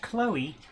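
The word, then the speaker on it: Chloë: It says you're supposed to pronounce the two vowels that are next to each other separately.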